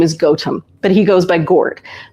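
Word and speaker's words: Gaut: So my husband's, as many of you know, my husband's name is Goatum, but he goes by Gourd. But those of people who really know him, just call him goat. G A U T.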